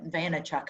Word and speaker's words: Vaynerchuk: anyone knows Gary vayanak but I'll van vaynerchuk I think is how you say his last name but Gary Vee um